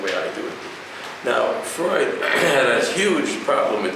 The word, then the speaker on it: Freud: Till this day, as soon as you mention the word Freud, which in German is pronounced Freud, these like Freud.